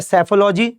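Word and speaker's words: Psephology: उसके बाद है सैफोलॉजी। इसमें सी पी जो है वह साइलेंट होता है। तो सैफोलॉजी है।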